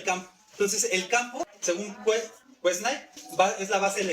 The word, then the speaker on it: Quesnay: El primero es Quesnay, o Quesnay, como se pronuncia, que él va a decir que el campo es la base de la economía.